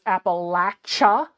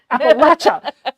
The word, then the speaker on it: Appalachia: this is so stupid I tricked myself into remembering it was Appalachia because I had remember it had the church sound in it and it was the church sound because it's the Bible Belt so I was like church Appalachia Appalachia and and southern people